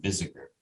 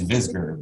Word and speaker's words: Visger: alba the knights of because you pronounce my name visitor it's visger but everybody in new